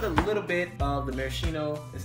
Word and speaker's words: maraschino: going to put a little bit of the maraschino is how you say it sure anything little